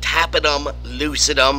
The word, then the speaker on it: tapetum lucidum: It's due to something called a tapetum lucidum. You can also call it tapetum lucidum. I've heard it pronounced both ways, but I like tapetum lucidum because it rhymes.